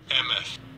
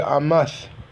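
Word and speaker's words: אֱמֶת: Emeth. Amath. Emeth. They pronounce it with the Yiddish, but it would be Amath.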